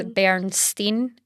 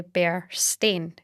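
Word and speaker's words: Berenstain: So, the false memory is Bernstein. S T E I N, but it's actually Bernstein. S T A I N.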